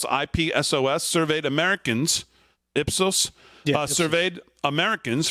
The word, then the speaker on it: Ipsos: the poll conducted by I I guess is pronounced ipsos ipsos surveyed Americans ipsos surveyed Americans from the general